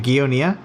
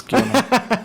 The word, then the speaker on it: Giona: Is it Gionia? Gionia? I don't really care, but it's Giona. 2 syllables.